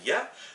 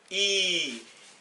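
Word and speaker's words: ي: Donc quand elle est en début de mot, elle se prononcera ya, mais en milieu ou en fin de mot, elle se prononcera i.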